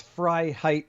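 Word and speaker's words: Freiheit: to decide who's who david fry height how are you am i pronouncing that right yes it is it's fry height phonetically unless we're in french and we roll the rf right but by the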